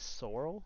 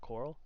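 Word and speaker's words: Corril: guess I'm GNA say his pronunciation is sorl not Coral it's c r r i l okay thamir f a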